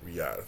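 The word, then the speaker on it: Riyadh: in RI in Riad I think that's how you pronounce it Riad Riad I it's Riad coming into the fight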